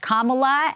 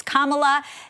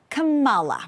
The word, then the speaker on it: Kamala: clear up how to say her first name, pronounced Kamala, and the name of the Good Luck Babe singer is pronounced Chapel Road. So it's Kamala, not Kamala, right?